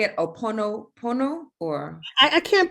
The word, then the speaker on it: Ho'oponopono: So the Hawaiian prayer, and you say it Oponopono or? I can't pronounce it too well. Ho'oponopono.